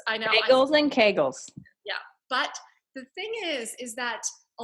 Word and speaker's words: Kegels: do kegels because those I'm not even saying it right no and it rhymes with bagels I know think kegels yeah but is that